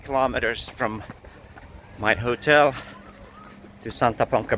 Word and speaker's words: Santa Ponsa: So far it's been 5.3 kilometers from my hotel to Santa Ponca Beach, Ponsa. Santa Ponsa, I think is the pronunciation.